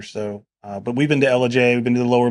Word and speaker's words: Ellijay: And this thing is between Blue Ridge, Georgia and Ellijay, Georgia. I think I pronounced that right. I have a southern accent. Ellijay.